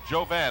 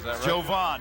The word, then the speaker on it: Jovan: five six to 22 I call it Joe bad it's actually Joe Bob Jovan yes correct correct myself and I apologize for